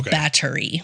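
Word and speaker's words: Báthory: isabet B battery okay so it's spelled b a t h o r y right but in Hungary it kind of separates b a t from the and h o r y so battery sure okay so Blood Countess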